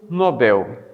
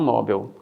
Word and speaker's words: Nobel: Então, nós temos aqui o Nobel e não o Nobel.